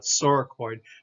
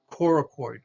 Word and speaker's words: coracoid: word right here is a c word that does not have that soft it's not sorakoid but this is coracoid coracoid coracoid's a little